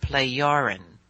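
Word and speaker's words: Plejaren: But it is pronounced playarin.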